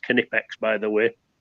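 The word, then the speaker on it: Knipex: so this is the canipex and it is pronounced canipex by the way canipex cobalt bolt croppers this makes short work of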